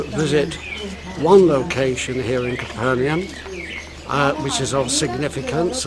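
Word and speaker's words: Capernaum: And uh we're now in Capernium pronounced different ways really but let's use the typical English variation Capernium.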